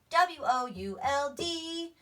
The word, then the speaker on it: would: sing get out but if you can remember that could is cou LD then you remember could and would rhyme you just have to change that beginning sound wood wood that's right